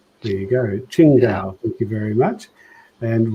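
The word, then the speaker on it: Qingdao: like so welcome and kim is saying it's pronounced uh ching dao there you go ching dao thank you very much and roland from the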